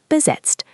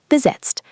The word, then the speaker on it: besetzt: Available is verfügbar, verfügbar, and busy or occupied is besetzt, besetzt.